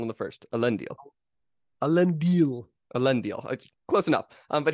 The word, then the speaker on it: Elendil: do you get that reference so yes so elendil um correct your pronunciation there elendil of course is is the